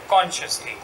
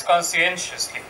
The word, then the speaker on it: conscientiously: it in English sometimes cannot pronounce the word. So they say instead, consciously. The word is conscientiously.